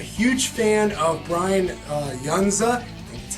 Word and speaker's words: Yuzna: movie i'm a huge fan of brian uh younza that's how you pronounce the man's name he has worked with